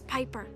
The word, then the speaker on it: Piper: robots by the way the name's Piper rhymes with Viper around and even came